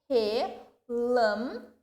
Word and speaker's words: relâmpago: Relâmpago. Ou eu pronunciei com mais tonicidade o lam.